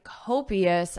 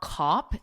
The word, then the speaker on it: copious: wine bottle Beethoven drank copious amounts of wine listen to the pronunciation copious so not cop it's co copious copious copious amounts of wine copious